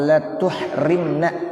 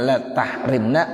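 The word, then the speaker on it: لا تحرمنا: Boleh dibaca Allahumma la tuhrimna, boleh. Ini kalau dari ilmu sorob boleh bacanya la tahrimna, boleh la tuhrimna. Bi fathhi ta'i wa dhammiha, taknya boleh dibaca fathah, ya taknya boleh dibaca dhammah. Wal fathu absahu, namun kalau kita baca fathah lebih fasih, dan itu yang masyhur kita baca.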